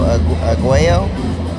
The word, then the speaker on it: Aguayo: It's pronounced Diego Aguayo. I want to say Aguayo.